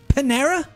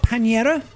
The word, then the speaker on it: Panera: Panera. you uncultured So it's not pinera. It's panera. Panera.